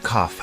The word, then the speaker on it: cough: you have a cough the word cough has an unusual pronunciation instead of a g sound we have an F sound here do you have